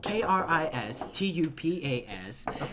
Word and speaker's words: Kristupas: That is pronounced Kristupas. Last name. Ooh. Exactly what you know. Yeah. It's like that word, but not really.